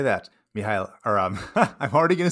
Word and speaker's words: Mícheál: speak irish it's okay even as an irish person i introduce myself and i say hey my name is mihal and people go oh